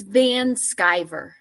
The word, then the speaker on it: Van Sciver: Yeah, it's Van Sciver. So it's pronounced like sky, like S-K-Y.